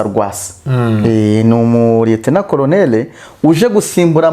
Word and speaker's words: Rwasa: Rero nubundi uyu mugabo witwa ngo ni urumva uyu mugabo bita ngo ni Gwasa sinzi mu Kirundi bari kumwe ngo ni Gwasa ariko ubundi ngene nka pronounce Rwasa.